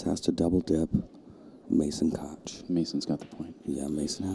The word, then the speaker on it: Koch: to double dip Mason Koch. Mason's got the point. Yeah, Mason has the point. And I've been pronouncing that wrong the whole time. He made a point of saying pronounce Cook.